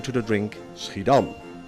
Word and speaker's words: Schiedam: This was done in the town which almost gave her name to the drink, Schiedam, or as the English pronounce it, Schiedam.